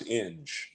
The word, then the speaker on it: Inge: named after my dad no one growing up could pronounce in but everyone could pronounce so is is